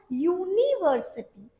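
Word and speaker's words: university: ये है तो यू, पर क्या इसका प्रोनाउंसिएशन आपने नोटिस किया? यूनिवर्सिटी। इसका जो साउंड है वो वॉवेल साउंड नहीं है, क्या साउंड है? कॉन्सोनेंट साउंड है।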